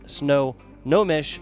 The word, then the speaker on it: Snohomish: The Snow Snohomish County Sports Commission.